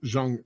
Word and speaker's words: Jung: curl we call them young here but it's spelled j u in g so zhang yeah it it depends on where you're at how you pronounce that but uh you know